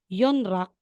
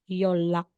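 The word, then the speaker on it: 연락: So, instead na sasabihin mong Yonrak, magiging Yolak.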